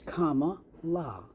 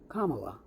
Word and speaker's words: Kamala: how to pronounce it it's Comm La Kamala that's it it's that simple and you're that stupid